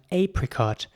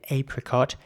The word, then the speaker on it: apricot: Now, in British English, people usually say apricot. In American English, people usually say apricot, as far as I'm aware, at least. You can say whichever one you like, in my opinion. So apricot or apricot, it is spelled A-P-R-I-C-O-T, and it's basically pronounced apricot or apricot.